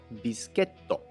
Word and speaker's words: ビスケット: In American English, it's biscuit. In French, it's biscuit. And finally, in Japanese, it's bischetto.